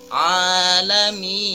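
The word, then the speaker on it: الْعَالَمِينَ: roh dan selanjutnya ada al-alamin ada huruf a juga Mad Thobi'i tidak boleh terlalu panjang hanya cukup dua harokat alamin tidak boleh hahaha panjang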